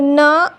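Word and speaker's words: knee: जब के बाद एन आता है तो के साइलेंट होता है और साउंड केवल एन का मिलता है। जैसे यहाँ देखिए के बाद एन आया है तो के साइलेंट होगा, साउंड केवल एन का मिलेगा।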